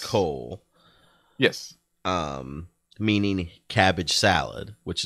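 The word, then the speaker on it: kool: So apparently yeah, I don't know the Dutch it, word for is K-O-O-L, which is pronounced yes. Coal.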